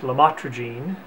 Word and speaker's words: lamotrigine: topic is about a medication called lamotrigine pronounced LaMotte Regine in some countries and